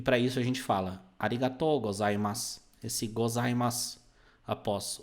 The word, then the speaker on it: arigatou: Arigatou gozaimasu. Pode traduzir isso como um muito obrigado, né? Pelo seguinte, falar só arigato significa obrigado, que é aquele que você provavelmente conhece, né?